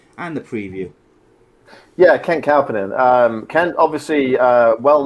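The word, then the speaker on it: Kauppinen: to brad we'll go to brad for the pronunciation and uh and the preview yeah ken calpinion um ken obviously uh well known on the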